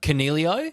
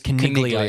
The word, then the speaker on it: Coniglio: Cornelio? Cornelio is correct. Well, so mispronouncing it is Coniglio. It's not. It's Cornelio.